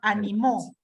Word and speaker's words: animó: hacer tal cosa y con acento en la última en la última sílaba animó en pasado verbo en pasado de la